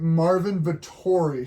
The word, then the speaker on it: Marvin Vettori: The next one is Carl Roberson and, let me pronounce this right, Marvin Vettori, straight out of Italy.